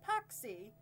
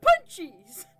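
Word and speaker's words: pączki: And I'm like, oh, I've heard them pronounced paxi. And he's like, they're punchies.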